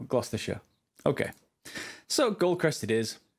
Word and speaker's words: Gloucestershire: People often try and say Gloucestershire or something similar, but no, Gloucestershire.